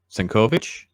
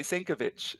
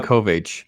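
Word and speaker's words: Sienkiewicz: Bill Senkovich. Is that how you say his name? Bill Yeah, Senkovich? I always get his name wrong too. I always want to say Sankovic. Yeah. I think it's um, Senkovich.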